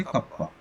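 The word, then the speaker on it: κ: है कपा ठीक है इसका उच्चारण जो होगा वह इस तरह से कप्पा अब आता है कि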